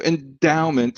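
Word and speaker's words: Endaoment: Yeah, so endowment, and it's spelled ENDAO, like a Dow, mint, right?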